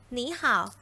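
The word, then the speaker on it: 你好: คะ คำ นี้ อ่าน ว่า นี้ ค่ะ อย่า หนี ห่าว นัก เรียน คิด ว่า คำ ว่า หนี ห่าว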